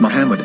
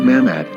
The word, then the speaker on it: Muhammad: form, with no vowels, it can be read as Muhammad, which is the name of the Muslim prophet, or as Mamad with no A after the H.